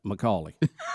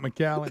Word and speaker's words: McCallie: So which one is it? McCallie. Yeah. So it's not McAllen. No, it's McCallie.